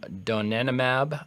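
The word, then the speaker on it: donanemab: uh we talked about earlier that's leanimab and donenomab. Um, I'm going to spell those uh for folks in case my pronunciation is terrible.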